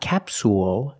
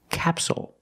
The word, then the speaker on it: capsule: this word is capsule again the stress is on the first syllable so the second syllable is short it's not capsule it's capsule with a dark L at the end capsule so we see